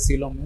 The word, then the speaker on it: coelom: going to understand what is the advantage of coelom over pseudocoelom. What is pseudocoelom? We will see the advantages here. Pseudocoelom. See, actually here the pronunciation for generally we use the word here coelom is right pronunciation should be in the form of coelom.